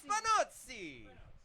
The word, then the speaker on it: Spinozzi: Contrary to popular belief, I got told last week that the proper way to say it is Spinozzi or Spinozzi. It is Spinozzi.